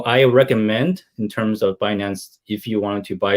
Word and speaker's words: Binance: Yeah, Binance.